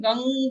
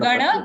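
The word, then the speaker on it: गं: Anga sound, like in Ganga we say, no? Gang Ganapate. Om Gang. Gang. Not Gana, Gang Ganpate. Gang. Anga sound for if the Anuswar is on Ga.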